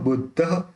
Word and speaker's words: बुद्धः: 10 number, शुद्धो बुद्धः, ये जो विसर्ग है उसका ह प्रोनाउंस होगा शुद्धो बुद्धः।